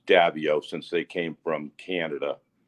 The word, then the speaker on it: Davieau: but we pronounce it here and we've been pronouncing it davio for uh uh two generations anyways it's dabio since they came from canada they pronounced it davio and what what what is your culture um